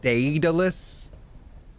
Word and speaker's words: Daedalus: It's pronounced Daedalus.